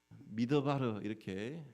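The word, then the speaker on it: מדבר: 수가 있습니다.이 광야에 해당하는 히브리어 단어를 보시면은 미더바르 발음을 합니다. 두 개의 단어가 합쳐진 것인데 보시면은 말씀에 해당하는 따바르라는이 단어와 전치사 영어의 프람에 해당하는 민이 합쳐져서이 광야가 형성이 됐습니다. 미드바르이 광야 본래 무슨 뜻입니까?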